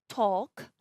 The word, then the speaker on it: talk: For the H in chemist and ghost, the K in knock, the L in the modal verb should, cough, talk, salmon, the N in autumn, and the P in pseudonym, and in the word psychology.